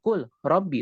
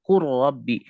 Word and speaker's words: قل رب: Contoh dalam kalimat qur rabbi, bukan kul rabbi tapi qur rabbi. Lamnya hilang dan dia idgham. Idghamnya adalah idgham kamil, masuk ke dalamnya, hilang lamnya secara zat dan sifat.